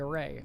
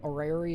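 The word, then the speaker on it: Orrery: At the center of this platform is the array, a vital tool in your shaping of this system. While an while and oh wait, oh, I've I've been mispronouncing it. Orari is normally a miniature representation of a star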